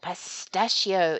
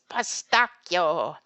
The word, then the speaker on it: pistacchio: For example, pistachio is pistacchio, mascarpone, mascarpone, and bruschetta, not bruschetta.